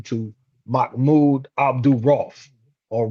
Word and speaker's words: Rauf: Then he converted to Islam and he changed his name to Mahmoud Abdul Rauf or Rauf, as some would pronounce it.